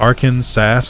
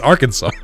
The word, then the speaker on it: Arkansas: Pronounced Arkin Sass over here. Some really gh. Now I'm mad. It's my bit. Now I'm mad at it. It's Arkansas now.